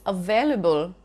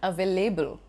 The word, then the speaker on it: available: For instance, available and not available.